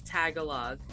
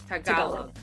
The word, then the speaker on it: Tagalog: I've pardon me, but I've said it as Tagalog. Yeah. I know that's very Americanized. It's okay. But is that like the correct pronunciation, or Tagalog? Yeah, the emphasis is on the second syllable. Tagalog.